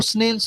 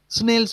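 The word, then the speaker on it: Snell's: वो क्या नाम है ना उसका, कौन सा रूल होता है वो, मैं उसको बोलता हूँ स्नेल्स रूल, स्नेल्स बोलता हूँ इसको। आई नो, आप शायद एस को साइलेंट रखेंगे।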